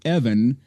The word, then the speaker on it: Even: And by the way, uh he wrote us a letter, too, explaining his name is pronounced Evan, not Ivan or whatever we said before. So, it's Evan from Norway, even though it's Even.